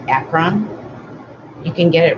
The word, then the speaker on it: Akron: I want to say acorn, but I know that's not right. Akron.